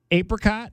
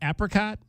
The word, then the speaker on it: apricot: by Dre and Snoop apricot apricot apricot how do you pronounce that both apricot both are acceptable okay Citrus melon and